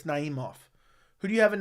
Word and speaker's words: Naimov: I forgot how to pronounce his name. Naimov? It's Naimov.